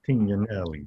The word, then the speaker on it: Tignolelli: Well, I would say the proper pronunciation is Tignolelli, but being a Capolino, I think I can help.